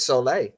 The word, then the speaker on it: soleil: Just like the word smile, we don't say the lay part, but at the end we spell it with the LE still. So this has to do with smiling. Well, in French, it's soleil.